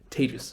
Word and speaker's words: Tejas: hi my name is tejas that's pronounced like contagious or maybe in pandemic times advantageous is probably better either way tejas say with me tejus right and i work